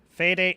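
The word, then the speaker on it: Fede: the franchise uh f is it fade fade Alvarez how do you pronounce that uh let's see how to sometimes you can get lucky with this search uh how to pronounce uh F fed fed Alvarez okay got it thank you uh fed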